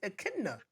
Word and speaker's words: echidna: An Echidna.